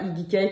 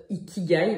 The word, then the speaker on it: ikigai: Qu'on prononce pas Ikigai, qu'on prononce Ikigai, mais bon, ça m'a toujours énervé.